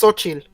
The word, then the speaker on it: Xochitl: So they're for sure building up their Young Avengers, but which name can't you pronounce? The X? That's Xochitl. That's a very classic Mexican name. It's Xochitl.